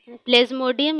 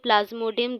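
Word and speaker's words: Plasmodium: है तो देखिए प्ला प्लाज्मोडियम या फिर प्लाज्मोडियम दोनों ही कह सकते हैं अंग्रेजी वाले स्पेलिंग दिखा देते हैं प्लेज मोडियम यह रहता है पी एल ए एस एम ओ डी आई यू एम तो देखिए गाइस यह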